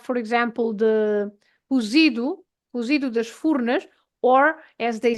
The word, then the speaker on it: Furnas: and so the sound, the pronunciation of the U is like a French U. So, for example, the town is Furnas, and they say Furnas. So we say Furnas, and they say Furnas.